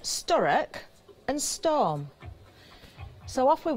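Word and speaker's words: Sturock: funny story you know when people get your name wrong and you get well my surname is sturk s t u r o c k I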